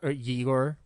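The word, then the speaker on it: Ygor: Um, Bor Bella Losce plays Yigor Yigor, which is spelled Y G O R, not I G O R, uh, in the credits.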